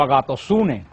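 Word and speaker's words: ἀγαθωσύνη: la palabra bondad la biblia se pronuncia como a gatos une que pronuncia en griego la palabra bondad y también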